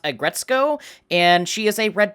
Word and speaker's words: Aggretsuko: After further research, I've discovered that it's actually pronounced Aggretsuko, and she is a red panda, not a cat.